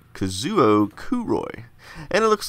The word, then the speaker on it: Kazuo Kuroi: Oh look, the name is pronounced Kazuo Kuroi.